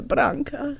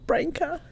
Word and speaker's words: Branka: branca is that you that's how they say my name in croatia blanca not brenca and she knew straight